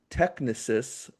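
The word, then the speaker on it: Technisys: and pretty much through its subsidiaries Galileo and Technicus that's how you say it SoFi owns the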